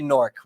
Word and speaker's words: Newark: North yeah we say norc they don't pronounce the w we don't really yeah